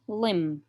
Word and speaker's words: limb: a piece of cloth which is wrapped around a wound or an injured limb here the bee is silent limb this refers to bandage